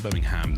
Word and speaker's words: Birmingham: And it is, you say it right, it's Birmingham, not Birmingham. Not Birmingham.